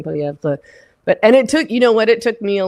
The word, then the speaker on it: Poilievre: Even I pronounce it wrong because it's Poilievre. Like that's how I learned French, not Québécois French. But in Canada, it's spelled Poilievre. Like if you were just pronouncing it like it looks like it should be pronounced, that's what you'd say. But in Canada, we're supposed to say Poilievre.